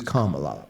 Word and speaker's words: Kamala: uh and and they taught us how to pronounce her name which is Kamala like the K La K all right so